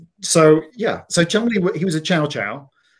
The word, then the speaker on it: Cholmondeley: explained to me that that's an old, very old posh British name, and it's pronounced Chumley St. John. And I thought that was so cool. And the reason that the monkey was called Chumley St.